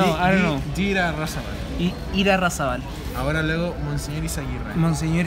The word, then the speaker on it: Irarrázaval: Irarrázaval.